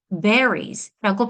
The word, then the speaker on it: berries: 그런데 strawberry가 여러 개가 있으면 we say s를 끝에 붙여서 berries, berries라고 발음을 합니다. 자, 발음은 그냥 berry에다가 z를 붙여서 berries라고 하는데요.